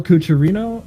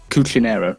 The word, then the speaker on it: Cuccinero: Was that El Cucharino or is that somebody else? Cuccinero, I think is how you pronounce it. Cuccinero, my mistake.